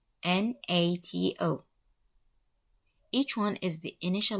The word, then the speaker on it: NATO: we have four letters n-a-t-o each one is the initial letter of a word in the phrase north atlantic treaty organization this acronym is pronounced as a word not as letters not